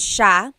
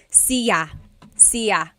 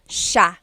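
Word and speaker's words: siya: to point out about sha. First is the pronunciation. It looks like it should be pronounced sa cia. But it's actually pronounced sha sha. So the s i y it's a sha sound.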